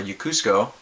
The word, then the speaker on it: Yokosuka: uh military base uh yokosuka or yukusuko japan is how they say it um even though